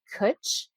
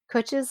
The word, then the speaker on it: Kitsch: And I believe it's pronounced Kutch because when you talk about things that are Kutchy, it's kind of like a, in some ways saying that it's not as stylish, but yet it is. So I think they're playing off of that. So it's spelled Kitsch.